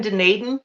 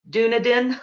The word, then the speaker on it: Dunedin: really struggled like even Dunedin I was pronouncing it Dunedin and now I know it's Dunedin Dunedin yep I didn't know